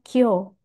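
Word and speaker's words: 今日: Nah, berikutnya ada kanji ima digabungkan dengan nichi, sehingga dibaca kyo, hari ini. Satu lagi di sini saya tambahkan ada bunyi kesa. Jadi ini cara bacanya beda lagi ya.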